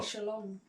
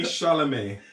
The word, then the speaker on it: Chalamet: Timmy Shalom. Wow, that's not his name. Timmy Chalamet.